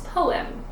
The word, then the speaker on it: poem: simple one right poem it's not home it's poem the O has long ago sound PO and the e as a short e sound M poem now that kind of gets like if you say it fast it almost sounds like it's almost like one sound but it's really two separate battle sounds Po